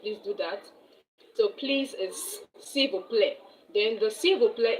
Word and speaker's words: s'il vous plaît: or someone that is a stranger, you say s'il vous plaît.